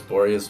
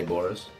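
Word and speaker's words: Boreas: maybe just every video i should actually say the word boreous just so you guys don't tell me how to say it because i know it's boreous but i say boris um but let's just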